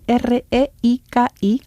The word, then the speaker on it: reiki: poco luego está el reiki el reiki que se escribe r e i k i reiki reiki reiki es cada vez más conocido